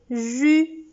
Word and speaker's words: jus: Il y a le jus. On ne prononce pas le S.